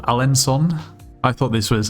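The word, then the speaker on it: Alençon: Um, and we will stay in this place called Alensson. I thought this was Alen Con, but supposedly this little squiggly thing under the sea means it's pronounced as an S.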